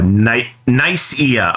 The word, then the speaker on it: Nicaea: Nicaea. Okay. Wow, not how I thought that was pronounced, but okay.